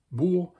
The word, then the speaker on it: bourg: The French equivalent of this word would be bourg, and it is spelled like this. It just has a O in it as well, O-U, which forms the sound OU in French.